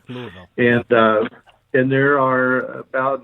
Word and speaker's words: Louisville: You don't say Louisville or anything strange like that. You got to say it like the locals do. Louisville.